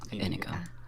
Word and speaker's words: Inigo: Inigo. Inigo. Inigo. Yeah, kind of like indigo, but yeah, without the D.